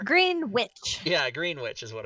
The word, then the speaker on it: Greenwich: all up but anyway greenwich in britain it'd be say you would say greenwich right and that's the proper pronunciation is greenwich and it's spelled nothing like that like there's a giant in there green witch yeah green which is